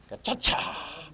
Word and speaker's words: Gacaca: Gacaca. Yeah, I know. It doesn't have a CH, but that's how you pronounce it.